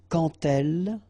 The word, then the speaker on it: quand elle: So like that, quand elle. All right, same rule here. Remember, when you will have this D, you will phonetically pronounce it like T.